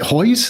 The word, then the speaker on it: Hoyes: never asked you your last name is it hoys is that just pronounce it that way exactly right Hoy